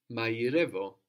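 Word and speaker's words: μαγειρεύω: The letter there that makes y is the same as the r that we saw in ero, the word for I, that we saw in rirora, quickly. But when we have an I or an e sound following that r, it gets softened to a y sound, like in mairevo.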